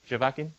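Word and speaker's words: Zhevakin: do this right it was first realized by javakian in 1953 did i pronounce that right yeah jovacin yeah good all right that this is the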